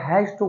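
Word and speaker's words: has to: जैसे मैंने आपको हैव टू का बताया था, हैप्टा कॉन्ट्रैक्शन होता है, शॉर्टकट में बोलते हैं हैप्टा, और हैज टू को क्या बोलते हैं, हैजटा।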